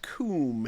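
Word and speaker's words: cwm: is a real word it is pronounced Kum and it means a valley it's Welsh for a valley but Cody no vowel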